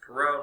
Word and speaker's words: Perot: I just pronounced Perot, not Parrot or anything like that.